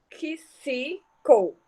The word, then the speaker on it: tóxico: a gente emite, ó, tóxico, são quantos? 7 fonemas, tóxico, porque aqui a palavra, a sílaba XI vai ter 3 sons, tanto o som do K, quanto do S, quanto do I.